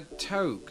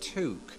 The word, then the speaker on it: toque: Sometimes, what Canadians call it a toque. That's not how you say it. It's pronounced toque.